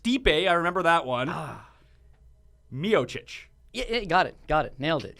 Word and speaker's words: Miocic: Miocic. Yeah, got it. Nailed it. And you even put the chich at the end, which is actually a Croatian pronunciation.